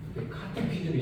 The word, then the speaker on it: catechism: 카테키즘이 CH가 아니고 C 같은 느낌을 주지 왜 그럴까?